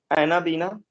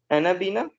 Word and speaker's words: Anabaena: एनाबीना spelling ये है, ANABAENA, एनाबीना। और एक होती है माइक्रोसिस्टिस, माइक्रोसिस्टिस।